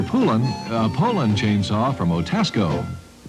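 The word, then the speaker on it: Poulan: poland ed whole land and for over 30 years they've been mispronouncing our name hope so we'd like to remind you that when you want a tough dependable chainsaw there's only one name you need to remember get your pullin a poland chainsaw from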